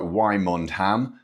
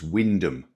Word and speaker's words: Wymondham: It looks like Wymondham, but it's not. It's Windham.